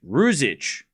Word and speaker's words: Ruzic: Can you pronounce rouge and then itch? Ruzic.